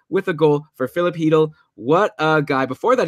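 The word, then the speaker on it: Chytil: And one of their favorite players is New York Ranger rookie Philip Hedl, which is spelled Cheadle, but it's apparently pronounced Hedl.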